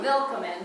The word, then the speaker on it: willkommen: Because it's a little different. There's an E here, and there's an extra L, and instead of a C, it's a K, and it's a little weird, but phonetically, which means how it sounds, welcome. Right? It's sort of a willkommen, but we won't mess it up.